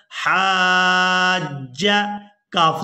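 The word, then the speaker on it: حاجك: فمنک یہ لفظ تھوڑا مشکل ہے اس کے ہجے بھی کریں گے حا الف جیم مد زبر حاج جیم زبر جا حاج کف زبر کا حاجک فمن حاجی منع من العلم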